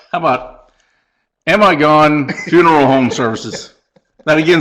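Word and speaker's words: Amigone: mr stubbs how about am i gone funeral home services that again is a last name now this is pronounced amigon and we got a but it looks like am i gone you better hope so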